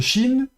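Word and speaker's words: שׁ: On a donc la lettre chin avec le point à droite. Donc on sait que ça se prononce ch.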